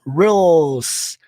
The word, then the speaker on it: rules: Ó, esse R-U você vai pronunciar roll. Depois o som do L. Roll. Ó, a língua aqui batendo no dente de cima. Roll. Com som de S. Rules. Rules.